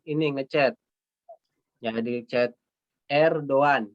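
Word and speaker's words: Erdoğan: Ya, di chat Erdogan dibacanya ya Erdogan gitu. Bukan Erdogan ya. Bukan juga Erdogan, bukan ya. Tapi Erdogan. Erdogan. Yumusak G-nya itu tidak dibaca menjadi Erdogan.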